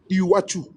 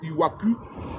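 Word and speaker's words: Iwacu: Vous tapez I w A u Iwachu. On appelle ça en bourundais. J'ai je parle. Bon, c'est comme ça. Eux et il prononce et il dit pas iwaku mais il dit iwachu.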